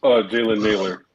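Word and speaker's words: Jalen Nailor: Jalen Naylor.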